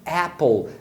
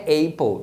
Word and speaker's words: apple: Agora, se na separação a primeira sílaba terminar em consoante, você vai usar o som curto do A, que é E. Então, se você olhar, você percebe que a primeira sílaba de apple termina em P, né? AP. Então, esse A tem que ser pronunciado E. Então, é sempre apple, não é apple.